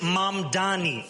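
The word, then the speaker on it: Mamdani: And furthermore, the name is Mom Dani. M A M D A N I. You should learn how to say it because we got to get it right.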